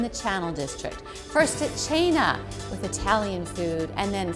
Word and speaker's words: Cena: we are at channel side in the restaurant china with michael buttikavali the chef let's spell it first it's spelled c c-e-n-a but pronounced china and i always said send them myself so